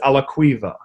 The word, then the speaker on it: Alaquiva: It's 3 syllables, and last name is Alaquiva.